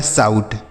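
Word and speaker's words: shout: क्या होता है दोस्तों, अगर ओ और यू एक साथ हो तो इसका उच्चारण हम आऊ के रूप में करेंगे, ठीक।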